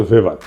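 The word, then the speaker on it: Weber: দার্শনিক আছে ম্যাক্স ভেভার এটা ওয়েবার বলে অনেকে এটা উচ্চারণ আসলে ভেভার তার একটা লেজিটিমেসি এবং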